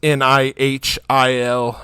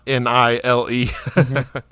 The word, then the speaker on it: Nihil: Yeah, it's not spelled like the Nile River. It's more spelled like nihilistic. It's Nihil, not Nile.